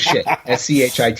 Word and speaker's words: Schitt: Their last name is Shit. Schitt.